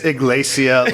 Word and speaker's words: Ekklesia: Or he said it's Ekklesia, like Hispanic or something.